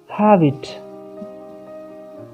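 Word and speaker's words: halve: तो बोलेंगे have it, have it, have it, H-A-L-V-E, है ना। have it, have it, L silent है, ठीक।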